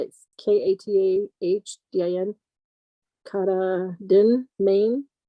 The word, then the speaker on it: Katahdin: Katahdin. Katahdin, Maine. How do you spell it?